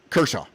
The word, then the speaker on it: Kershaw: Kershaw.